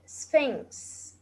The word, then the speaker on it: Sphinx: And the below one is called Sphinx. Sphinx. Sphinx. Sphinx. As you noticed, the PH here is pronounced fa.